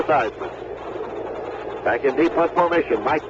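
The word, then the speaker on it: Theismann: washington redskins you know when seismic first came to notre dame he pronounced the name seizman the family name is female steezman but roger valdiserri the publicity director force publishing director notre dame explained to him that heisman rhymed with heisman so he pronounced it joe seisman back in defense formation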